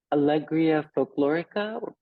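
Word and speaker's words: Alegría Folclórica: context about Al uh Allegria folclorica please correct my pronunciation yes no it's fine you you say right uh well you can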